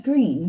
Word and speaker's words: Greene: is green that's green with a silent e at the end and i just moved